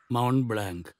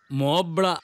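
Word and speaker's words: Mont Blanc: കാണണം സാറിനൊരു സമ്മാനം മൗണ്ട് ബ്ലാങ്ക് ആൽസിലെ ഹൈയെസ്റ്റ് മൗണ്ടിന്റെ പേരാ ഇവന് വെളുത്ത ശിഖരം ആന്നോ ഇരിക്ക് വേണ്ട സാറേ ഇരിക്കടാ വേണ്ട സാറേ സിറ്റ് ഡൗൺ ഓ പോവാ മോബ്ല എന്നാണ് ഇതിന്റെ യഥാർത്ഥ ഉച്ചാരണം ഇത്ര വിലപിടിപ്പുള്ള പേന വെച്ച്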